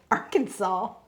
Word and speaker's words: Arkansas: All right, while I pick out the color to color Arkan- Look, I almost got arrested cuz I almost said it wrong. Arkansas.